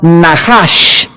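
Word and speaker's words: נחש: Veamos rápidamente esta misma palabra para entender el contexto en el libro de Levítico, capítulo 19, es la palabra Nahash, se escribe Nachash.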